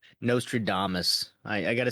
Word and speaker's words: Nostradamus: Nostra dumbass. Nostradamus.